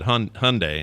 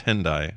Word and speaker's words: Hyundai: I did with him I said H Hyundai and he says that's what everyone says but it's hindai and I said really